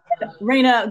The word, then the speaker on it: Reina: you have to really trust each other um Rayna did I say your name wrong no no okay okay I thought I